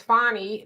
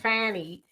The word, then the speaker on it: Fani: welcome to feminism Cecilia you say her name is fonnie not Fanny people if you talk